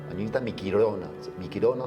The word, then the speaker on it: Miquilona: frase es Añita Miquilona, Miquilona se pronuncia, pero es con L, Miquilona, de juntos hasta el final.